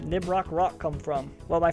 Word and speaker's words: Nibroc: or right trigger uh where did the name nib rock rock come from well my first name is